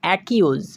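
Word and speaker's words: accuse: তো একবার কিন্তু সি এর উচ্চারণ হয়ে গেছে, এবার কিন্তু সি এর উচ্চারণ করা চলবে না। এবার আমাদেরকে ইউএসই এটার উচ্চারণ করতে হবে ইউজ ইউজ। সম্পূর্ণ উচ্চারণ হচ্ছে অ্যাকিউজ অ্যাকিউজ, যার অর্থ হচ্ছে নালিশ করা।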